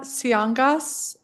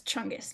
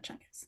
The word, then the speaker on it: Siangas: Siangas, policy manager, council for court excellence. And am I pronouncing your name correctly? Um, it's Chungus. Chungus.